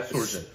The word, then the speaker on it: Shoojit: Yeah, Shoojit.